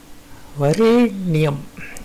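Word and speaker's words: वरेण्यम्: வரேண்யம், இதில் ரேவை வந்து தூக்கி நீட்டி உச்சரிக்கணும்.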